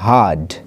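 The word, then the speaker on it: heard: এটা উচ্চারণ হিয়ার্ড হবে না, এটা হবে হার্ড।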